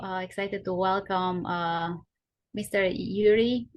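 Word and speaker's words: Jiří: to welcome uh Mr Yuri is that how you pronounce your name Yuri yes you pronounce it okay okay I tried right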